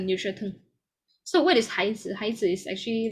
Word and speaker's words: 孩子: 孩子. So the z will be like soft and very short. 孩子. Okay, 孩子. So this one is the neutral tone. So what is 孩子?